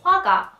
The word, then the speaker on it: 화가: Painter or artist is 화가, who draw or paint something, right? You have to move your lips from O to A very quickly when you pronounce the wa sound. Wa, wa, 화가, 화가.